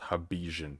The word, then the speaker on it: Hobbesian: I know it's spelled Hobbesian, but his name is Hobbes, so it's Hobbesian.